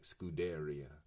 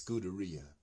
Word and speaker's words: Scuderia: say having trouble um pronouncing these Italian words like scudaria it's Scuderia basically means you know um